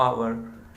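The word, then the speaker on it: hour: क्या होता है, कॉन्सोनेंट, लेकिन इसका जब हम प्रोनाउंसिएशन करते हैं तो प्रोनाउंसिएशन निकलता है आवर, आवर, आ निकलता है, ऑ।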